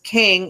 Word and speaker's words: Qeng: I don't know if you guys caught it, but it says King. Well, it's spelled Qeng.